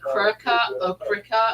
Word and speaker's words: Cricut: Well, it's actually Cricut or something like that. Oh, It's spelled CIRCUT.